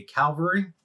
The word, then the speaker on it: cavalry: If you have a cannon, a cavalry, make sure I say it right so people don't bash me in the damn comments. CAV, cavalry.